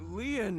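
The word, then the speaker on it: Lin: side okay uh destined my name lean is spelled l i n yes in French lean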